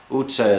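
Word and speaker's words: utca: shopping streets, which is called Vaci Itza, and it's spelled V-A-C-I, Vaci Itza. Utza is another word for street, and they spell that U-T-C-A.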